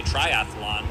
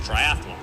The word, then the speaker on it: triathlon: One of the most commonly mistaken word is forte, when it's really just fort, or when people say triathlon, when it's just triathlon, because there's not an extra Triathlon.